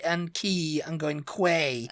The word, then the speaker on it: Quay: like that I'm like key is is how it's pronounced q u a y is key no it's Quay no